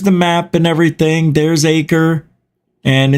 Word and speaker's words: Acre: in the state of Acre right now. I'm not sure if that's how you say it. It's ACRE, like acre.